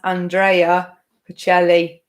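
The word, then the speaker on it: Andrea Bocelli: So his name is pronounced Andrea Pacelli. But of course, it would be Andrea. My best friend is called Andrea. So Andrea Pacelli was the answer.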